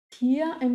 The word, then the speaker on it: Tiere: Tier en plural se pronuncia con una E al final, o así se escucha o se pronuncia como en singular. Ya, vuelvo arriba un ratito. Tiere. Ahí la R ya va a tener el sonido.